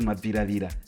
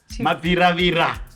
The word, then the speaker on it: Mabviravira: How do you say Mabhiravira? I say Mabhiravira. You're talking to Sacha Chuwasa and Joan Seddon and Donald Mabhiravira. I That's the story we were saying. Get it right. Mabhiravira.